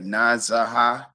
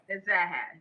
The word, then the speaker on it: Nazahat: Is that Nazaha? Is that right? I'm wrong. I'm still wrong. What's the correct pronunciation? What is it? Nazaha. Nazaha. Nazahat, yes.